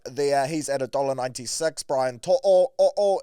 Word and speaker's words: To'o: Brian To'o, it's To'o.